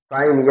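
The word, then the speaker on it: sign: इसी प्रकार जी के तुरंत बाद यन आता है, तो जी का उच्चारण नहीं होता।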